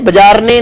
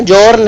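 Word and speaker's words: Bjarne: बी से शुरू होता है उनका नाम, लेकिन बी साइलेंट है, बजारने नहीं है, जॉर्न है, प्रोनाउंसिएशन जॉर्न होती है उनकी।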